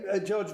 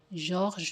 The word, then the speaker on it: Georges: Oh, so George Méliès, or how you pronounce it? George Méliès. No! Georges Méliès.